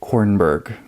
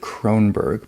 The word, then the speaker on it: Kornberg: Julia Kornberg. I've said Cronberg before.